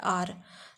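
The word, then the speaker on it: hour: एच क्या है, consonant है, पर हमने इसके पहले एन क्यों लगाया, क्योंकि हम इसमें एच को साइलेंट रखते हैं और इसका जो उच्चारण है वो क्या होता है, आर।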